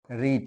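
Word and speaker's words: read: said পিপি টাও said রিডের past form হচ্ছে ওই বানানটা কিন্তু একই উচ্চারণটা রেড পিপি ফর্মটাও তাই রিড রেড রিড ওকে আমরা মেইন পড়াটাতে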